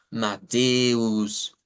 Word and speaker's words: Matthäus: En Dutch, pues vamos a decir Mateus. La diferencia radica en que esta E es una E larga. Entonces decimos Mateus, Mateus, y mantenemos esa E como prolongada.